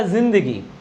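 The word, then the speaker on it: ज़िंदगी: तो सही कौन सा था इसका हम लोग पढ़ेंगे तो इसको जिंदगी, लेकिन उच्चारण जो इसका सही था वो था जिंदगी।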